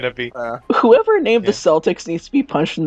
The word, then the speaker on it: Celtic: what it's going to be whoever named the celtics needs to be punched in the face i